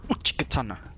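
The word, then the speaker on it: Uchigatana: Uchikatana.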